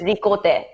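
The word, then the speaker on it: Récolte: Recolt, Recolte. Recolt. Right, okay. C-O-L-T. Yeah, but because it's Japanese, so it's ricote.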